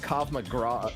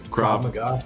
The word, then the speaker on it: Krav Maga: to find a good cop mcgraw is it cop mcgraw is that how you say it krav maga oh my god yeah